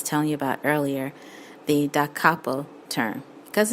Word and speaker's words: da capo: DC, that's capital D, capital C, stands for da capo. Da is spelled D-A, capo is spelled C-A-P-O.